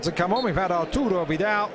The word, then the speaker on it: Arthur: We've had Arturo Vidal, now we're going to have Artur. Rather than the English pronunciation, Arthur. Having heard the Brazilian midfielder interviewed, he certainly does pronounce it Artur.